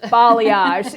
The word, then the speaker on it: balayage: Balayage. Balayage.